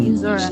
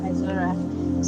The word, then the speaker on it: Izora: It's actually Izora, not Izora. So you got it right.